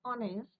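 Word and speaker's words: honest: व्हाई वी यूज़ an before ऑनेस्ट। क्योंकि एच क्या है बेटा यहां पे? साइलेंट एच क्या है यहां पे?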